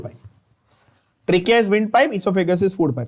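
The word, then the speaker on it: oesophagus: इसोफेगस की spelling ध्यान से देख लेना, हाँ, और ओइसोफेगस मत बोलना, इसोफेगस है, यू can write it with N ई और एन O, okay, it's the food pipe. Trachea is wind pipe, इसोफेगस is food pipe.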